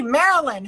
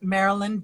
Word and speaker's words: Maryline: joined us this is Marilyn a more romantic name there never was and those spelled merry line it is pronounced in the French fashion as French as your